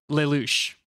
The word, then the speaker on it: Lelouch: Is that originally, how you pronounce that word? Lelouch. Lelouch. There's a lot of French and Western European influence here.